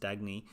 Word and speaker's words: Dagny: And in that, the main character is, I think her name is pronounced Dagny, and she runs a railway, and she's friends